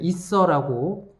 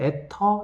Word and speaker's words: 에테르: 이 안에 들어있는 용액의 이름은 우리나라에서 옛날에는 에테르라고 불렀고, 에테르는 너무 이제 약간 일본식 발음 뭐 이런 거라서 선생님 대학교에서 배울 때는 이서라고 배웠고, 검색해보면 에터 이렇게 나옵니다.